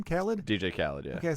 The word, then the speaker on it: Khaled: Khaled?